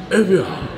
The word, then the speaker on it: Evian: You gotta say it like you're from France or Paris. Evian. Oh, yeah, it is French, isn't it?